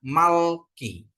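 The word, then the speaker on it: מלכי: jadi bacanya i ya mem lamet kap Ya jadi bacanya Malki ya Malki ya jadi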